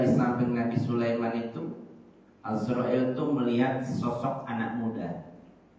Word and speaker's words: Azrail: Ada yang menyebut, para ulama bacanya bukan Israel tapi Azrail.